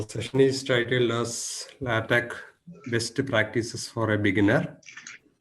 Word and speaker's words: LaTeX: tool is known as latch it should be pronounced as latch even though it is written as latex l a t ex